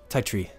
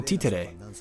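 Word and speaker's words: Tytree: particularly wrong about it thai tree oh tea today his name is t today that's how you pronounce it tea today how does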